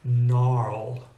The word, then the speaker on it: gnarled: for example the word gnarled I think you'll agree we're all grateful that the g is silent because trying to say